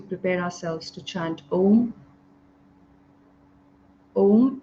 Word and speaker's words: Om: Om is 3 syllables coming together. Om. And the way to chant is to take a nice deep breath in, and as you breathe out, you will chant O and till midpoint, beyond which you will